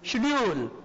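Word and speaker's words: schedule: तो शेड्यूल में बच्चों आप जानते हो जब दो कॉन्सोनेंट एक साथ आते हैं तो पहला कॉन्सोनेंट क्या होता है, आइदर आइदर हाफ स्पोकन और कैप साइलेंट, या तो ये हाफ स्पोकन होता है या साइलेंट होता है।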